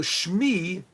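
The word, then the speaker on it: שמי: say it my my mem my mention so Shmi the letters mean this is a little bit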